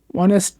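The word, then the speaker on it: honest: এইখানে অনেস্ট ম্যান অর্থাৎ প্রথম অক্ষর কি আছে এইচ কিন্তু উচ্চারণ কিন্তু হয় নাই অর্থাৎ অনেস্ট আমরা অনেস্ট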